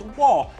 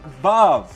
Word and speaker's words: Waw: all unanimously stated that the sixth letter of the Hebrew alphabet is pronounced WaW, not VaV.